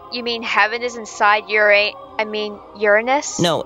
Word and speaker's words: Uranus: And this is your anus, right? You're supposed to pronounce it Uranus.